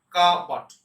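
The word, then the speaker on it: cupboard: উচ্চারণ করবেন কাবাট, কাবাট।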